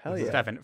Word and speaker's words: Stephen: I'm happy to be here how are ya Stefan first things first tell us about your name yes did I did I pronounce that right yes you said it perfectly